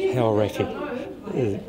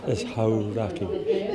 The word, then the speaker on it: Hauraki: There's a lot of mispronunciation, you know, things like haoraki. You know, that's hauraki, and a bit more understanding of the vowel sounds and that sort of thing.